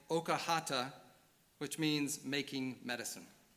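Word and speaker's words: Oakerhater: originally pronounced something like Okahata, which means making medicine. I've heard his last name pronounced various different ways by different people, but what I've mostly heard is Okerator. So that's what I'll go with, although also he's sometimes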